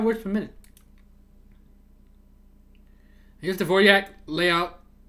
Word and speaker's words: Dvořák: Here's the Dvorak layout.